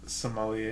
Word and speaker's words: sommelier: Yeah, any possible wine connoisseurs or apprentice some how the fuck do you pronounce it? Sommelier.